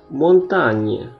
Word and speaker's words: montagne: Sekarang GN, huruf GN dibaca nye dalam bahasa Indonesia. Contoh, assigné, menugaskan, cagnotte, jackpot. Ini kanyot atau cagnotte ya, saya lupa bacanya. Kalau ini digne, mulia atau berharga. Grignoter, mengemil. Montagne, gunung.